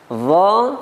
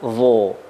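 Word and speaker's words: ظ: Pengucapan huruf dha ketika fathah tidak boleh dengan memonyongkan bibir atau membulatkan bibir. Misalnya dha, salah. Akan tetapi pengucapannya dengan mengangkat pangkal lidah. Dha, bukan dho.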